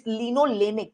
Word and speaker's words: linolenic: It's linolenic. Can you please pronounce?